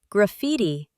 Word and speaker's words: graffiti: The emphasis is on the second syllable, meaning usage.